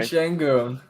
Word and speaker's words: Şengün: Oh You yeah, said, what is it, Sengun, or how do you say his name? Alperen Sorry, Şengün.